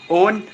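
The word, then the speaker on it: own: अब अगला वर्ड आता है ओ डब्ल्यू एन। ओन, ओन में हमने देखा तो ये जो डब्ल्यू है इसका प्रोनाउंसिएशन ओ के साथ सबमिट हो जा रहा है, यानी कि ओ के साथ एडजस्ट हो जा रहा है।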